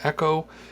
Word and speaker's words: EKCO: Echo is spelled EKCO, so it's like, it feels like it's reversed.